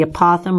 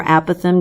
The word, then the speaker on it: apothem: angle in a midpoint that's the apothem or a Pithom depending on how your teacher pronounces it perimeter times a Pithom